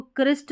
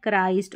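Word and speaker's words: Christ: इसको क्रिस्ट नहीं पढ़ना है। आपको पढ़ना है क्राइस्ट और इसको क्रिश्चियन पढ़ेंगे।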